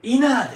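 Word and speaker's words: inner: てませんかこれはイナーですよ発音注意してくださいねいいな内側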